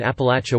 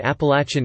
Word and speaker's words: Appalachia: People who live in the Appalachian dialect area or elsewhere in the South pronounce the word Appalachia with a short a sound, as in latch in the third syllable, eplat, or eplati, while